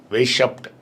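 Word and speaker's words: Weishaupt: வருஷத்தோட கரெக்டா சொல்றேன் 1776வது வருஷம் உருவாக்கப்பட்டது அதை உருவாக்கியவர் பேர் வந்து ஆடம் வெஷப்ட் அப்படின்பாங்க அ அந்த ஜெர்மன் நேம் அ நமக்கு சரியான உச்சரிப்பு வராது வேஷப்ட் அப்படின்னு வரும் ஆடம் வேஷப்ட் இல்லனா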